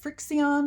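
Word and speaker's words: Frixion: um I also uh the frion I think is how you say it FX i o n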